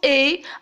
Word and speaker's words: et: même façon nous avons premièrement et s'écrit avec et écoutez bien la prononciation en prononce et avec la bouche fermée pour la deuxième vous